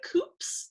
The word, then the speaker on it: Coops: it was actually nicknamed the coops not cops coops uh rhymes with hoops and everybody who lived